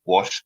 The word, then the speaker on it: Jos: According to Ames, the Hausa wrongly pronounced Wash as Jos, and it's stock. So we can see it's Wash, Gwosh, Wash.